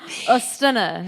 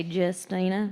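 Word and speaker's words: Justyna: Ostina is how you pronounce it, I guess. Oh my goodness. But us Americans like to say Justina. Justina, but it's not spelled like Justina, y'all.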